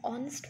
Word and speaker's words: honest: now number two point use and before the word which starts with age but sounds like oh say for example an honest man who students let me